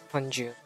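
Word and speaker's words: Hongjoong: Like what I said, my bias Hunju.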